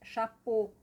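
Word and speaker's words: chapeaux: Em francês, chapô, eh, tanto no singular como no plural, chapô fica a mesma pronúncia. Então, esse X aqui ele cai, ele ele ele, a pronúncia dele não se ouve.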